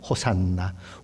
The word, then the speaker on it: 호산나: 하는 이 히브리어는 혹시 않았죠 그런데 우리는 어떻게 발음 합니까 호산나 호산나 호산나 에 우리를 구원하소서 그런 말이죠 근데